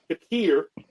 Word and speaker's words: Shakir: I don't want to get the name wrong. Shakir, Amari Cooper, and you got Curtis Samuel.